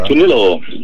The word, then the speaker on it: Tornillo: Now, does he pronounce it Tornillo or is it Tornillo like they would if you were... Tornillo.